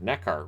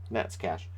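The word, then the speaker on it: Neckář: either Stanislav Nets cash that doesn't look like Nets cash but that is how it's pronounced for years I just neck art right neck are no Nets cash point zero nine to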